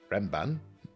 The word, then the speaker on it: Renban: I'm just going to pronounce Renban.